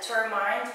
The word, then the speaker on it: determined: Actually, determined, a lot of people say that, determined, because you think of the word mind.